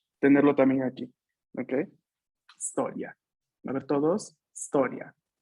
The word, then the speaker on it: storia: inicial que tenemos aquí no es historia es historia la historia inicia con la s la palabra la pronunciación lo inicia con una no hay que rellenarlo que